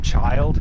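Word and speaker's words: Childe: uh we we're just going to call him child because that's how it's pronounced in the game uh child is a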